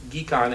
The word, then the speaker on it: GHEC: So we've instituted an effort as part of the Global Health Economics Consortium, which I prefer to pronounce GEEK-ON, as in get your geek on.